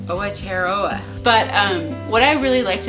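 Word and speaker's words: Aotearoa: to look it up, but it's spelled A-O-T-E-R, A-O-T-E-A-R-O-A, but it's pronounced Awatearoa.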